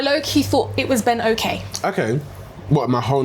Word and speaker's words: Oke: Ben, technically it's Ben Oke because that's how the Yoruba way of saying it.